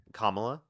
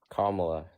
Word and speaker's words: Kamala: How do you pronounce it? Kamla. Kamla.